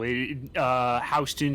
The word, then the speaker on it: Houston: Houston Street in New York is pronounced Houston, not Houston.